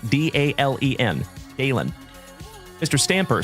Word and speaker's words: Dalen: My name is Dalen.